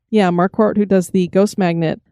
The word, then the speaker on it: Marquardt: bridget how do you say her last name marquardt yeah marquart who does the ghost magnet podcast and i